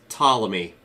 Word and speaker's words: Ptolemy: It's Ptolemy. The P is silent, like how the P in pterodactyl or the O in possum are silent.